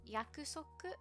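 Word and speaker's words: 約束: in japanese and that's yakuzoku which is promise because they actually share that word with korean and in korean it's pronounced yaksok and i heard it that way first so whenever it comes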